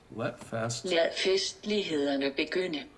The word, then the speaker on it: Lad festlighederne begynde: League and diner is what it sounded like. Lad festlighederne begynde.